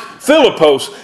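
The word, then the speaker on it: Φίλιππος: name means crowned the name Philip is Greek pronounced philipose and his name means lover of horses the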